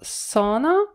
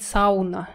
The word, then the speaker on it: sauna: Обратите внимание на слово sauna. Как бы sauna, вот так вот читается. Не надо говорить сауна. Это по-русски сауна. А в английском варианте sauna. То есть you не читается.